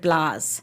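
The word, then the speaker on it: blaa: do waterford has their own they're called Waterford blahs I don't know if anybody's heard of a voice Waterford blah but a Waterford blahs basically it's spelled BL a a it's a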